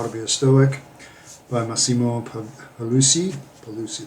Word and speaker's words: Pigliucci: Pigliucci, that's right, Pigliucci, no G, even though it's in there. The G is silent, weird.